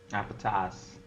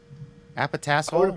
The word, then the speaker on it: Appetas: Appetas? Appetas. Appetasshole? What is the... Like appetizers. Because it's for restaurants. So it's not appetasshole. That's wrong. Or All right, so why